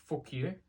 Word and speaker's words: Fukuyo: Basically pronounced Fukuyo.